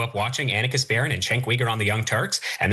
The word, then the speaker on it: Cenk Uygur: If he had grown up watching the Young Turks, he would know how to pronounce Cenk Uygur's name. It's not Cenk Uygur or whatever it is that he said.